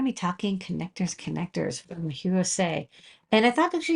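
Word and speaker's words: Hirose: this company is it hrose the answer is no it's hero say just think of David Bowie her Heroes say um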